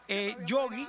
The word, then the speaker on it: Gioggi: Yogi se pronuncia como el oso Yogi, pero se escribe G de gato y GGIO, oficial con WF, en Instagram y también en Facebook.